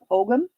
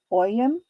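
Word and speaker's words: ogham: um specifically I think the pronunciation is ogum oyum o-g-h-a-m it's Celtic um and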